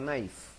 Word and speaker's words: knife: One knife, un cuchillo. No se pronuncia la K.